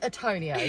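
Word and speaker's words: Tourneo: fact the reason I was calling it a tornio is because it's spelled t-o-u-r so that is tall and then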